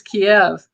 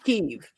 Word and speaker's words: Kyiv: The Ukrainians want you to say it correctly because when they became their own thing, they changed the spelling and the way to say it. You're saying it in the Russian way.